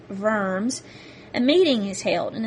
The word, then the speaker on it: Worms: IV in 1122 in a German city called verm spelled like worms but pronounced vers a meeting is held and is called the